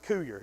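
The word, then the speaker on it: Courier: the newspaper here Mark the times coar just ignore that R in there I get that on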